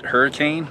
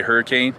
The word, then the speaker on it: Hurricane: actually in hurricane it's you spell it hurricane but if you ever come here don't say hurricane it's hurricane it's leviosa